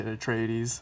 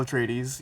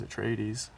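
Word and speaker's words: Atreides: Paul tradies here and you actually had the correct pronunciation there when you say a traes I remember that from the pamphlet we got when we started the first one and U did you say it a different way first well people say Paul a tradies you know but in the you know in the Frank Herbert pronunciation it is a traes how you said it um and uh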